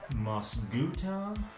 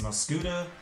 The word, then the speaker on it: Mosghuta: This one is called, it's a tough word to pronounce. Every dog has his bone. It is Mosghuta. Is that her name? Yes, Mosghuta, the boss cow.